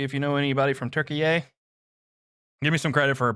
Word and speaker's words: Türkiye: See if you know anybody from Türkiye. Give me some credit for pronouncing it correctly.